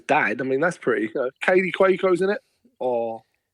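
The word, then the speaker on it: Kaley Cuoco: Or how do you say her name? Katie Quo. That's how you say her name. Yeah. Like genuinely, that's how her name is said.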